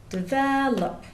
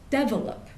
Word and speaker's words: develop: more academically focused vocabulary well words like develop develop develop in American English the stress goes on the second syllable whereas in some other dialects for example in Indian English they'll often put the stress on the first syllable so they'll say develop which would be develop which is almost the